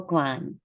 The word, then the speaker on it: Guan: I said Quan, I meant to say Guan with more of a G sound, but it's lovely to have you here.